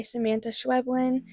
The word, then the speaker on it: Samanta Schweblin: I had called her Samantha because my eyes just skipped over that there wasn't an H in there.